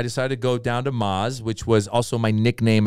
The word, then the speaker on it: Maz: and i have a million ways to remind people to say maz i go like lamaze mazda maserati mazatlan i know you gotta